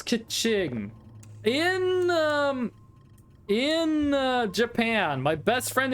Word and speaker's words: Keqing: It was Keqing, by the way, is how you're meant to pronounce it. Keqing. Keqing, I think it is. I don't have the tonality correctly, but yeah.